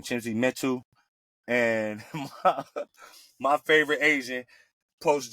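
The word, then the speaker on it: Chimezie Metu: Chimzi Metu.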